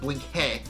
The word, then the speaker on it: Blinky: And, of course, he also plays off that he's Hungarian and that it's pronounced Blink-hey.